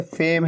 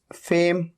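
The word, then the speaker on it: fame: अच्छा, इसके अलावा नेम के अलावा जैसे फेम है, फेम में भी फेम, फैम नहीं, ठीक है, तो ये ए का साउंड है।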